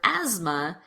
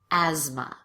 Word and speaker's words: asthma: And in this last word, asthma, the TH is actually pronounced as a Z. Asthma.